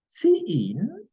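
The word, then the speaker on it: cin: C in, pronounced as C in, stands for console input.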